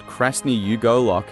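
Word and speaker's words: красный уголок: the Red Corner issue Red Corner is pronounced crne yugol in Russian it comes from the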